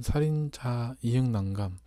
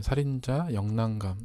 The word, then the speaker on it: 살인자ㅇ난감: 저는 그냥 살인 장난감 이렇게 말하는데 다른 분들은 살인자 이응난감 아니면 살인자 영난감 이렇게 발음할 수 있지 않을까 싶네요.